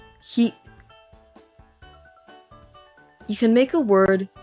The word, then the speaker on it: 火: The Japanese pronunciations for Tuesday are ka and hi.